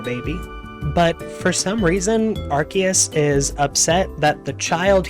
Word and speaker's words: Arceus: God AKA Arceus Arceus I'm gonna say Arceus because that's how it is now officially pronounced by the Pokemon company I don't care what